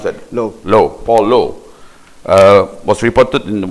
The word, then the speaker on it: Low: But before we get there, I think Minister Paul Lau, or Low, how do you pronounce that? Low, Paul Low, was reported in one of the